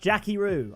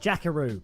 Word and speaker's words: Jackiroo: going to be huge just got told it's pronounced jackieo I think I said jackaroo but yeah Jacky rooo there we go let's get in and